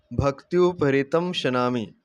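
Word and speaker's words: भक्त्युपहृतमश्नामि: ये शब्द है जी, इसको ध्यान से सुन लें। तदहम भक्त्युपहृतम शनामि प्रयतात्मनः, ये सही उच्चारण है।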